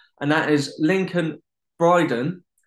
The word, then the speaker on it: Lincoln Bryden: on who's on series 2 and that is lincoln bryden how you doing mate i had to make sure i pronounced that right i'm doing very well i'm